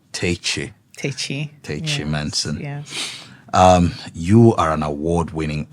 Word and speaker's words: Tachie-Menson: I like the pronunciation. Tachie. Tachie-Menson.